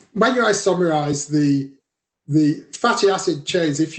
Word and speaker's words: isomerize: Isosmerize. I cannot say it correctly. I'm sorry. I botched it. I totally botched it. Isomerize.